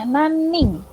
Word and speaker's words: 何人: N-A-N N-I-N tulisannya. Tapi dibacanya naning.